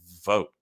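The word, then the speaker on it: Vought: A British journalist went undercover as donors, and they talked to a guy named Russell Vogt, I believe is how you say his last name.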